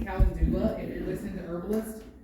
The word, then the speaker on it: calendula: Then calendula flowers. Spell that. What was it? Calendula. C-A-L-E-N-D-U-L-A. Like it phonetically sounds like calendula.